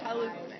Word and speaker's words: Chalupny: Do you know how to pronounce correctly? No. Chalupny? Chalupny.